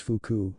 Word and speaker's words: fuku: room asked in shock it is pronounced fuku not you sit tsuna instructed I